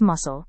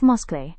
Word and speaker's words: muscle: It is pronounced as muscle instead of muscle.